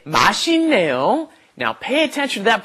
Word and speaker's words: 맛있네요: When that 있다 comes up against an N, a nian, then you have to pronounce it as another N. 맛있네요. So let's practice this pronunciation. You should pronounce it 맛있네요. 맛있네요.